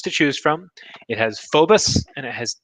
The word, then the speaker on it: Phobos: a cool trick a lot of people say Phobos and damos because that's kind of how the words look I've heard from people who speak better Greek than I do phobus is the preferred pronunciation and damos so phobus